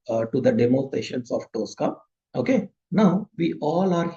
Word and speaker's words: Tosca: The Tosca, the pronunciation of TOSCA is not Tosco, it is Tosca.